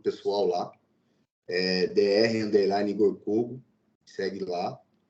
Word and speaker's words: Cogo: Igor Kogo. É assim que pronuncia o seu nome, Igor?